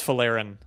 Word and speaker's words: Folarin: Uh it's Folarin.